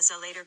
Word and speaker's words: Zelator: the territory that the student traverses in the Zelator grade. The word Zelator, pronounced Zelator, is a corruption of the Latin word zelotes, meaning zealous person or zealot.